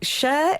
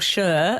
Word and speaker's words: Cher: says, "Hi, Cher is or Cher, as I said, is a diminutive of her given name of Sherilyn. So that So that provides a suggests clue as to the pronunciation.